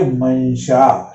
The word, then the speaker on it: मंशा: देखिए मंशा, श के पहले आई तो न का उच्चारण करा।